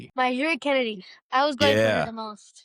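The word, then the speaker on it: NiJaree: How do you pronounce her name? Najiri. Najiri Kennedy.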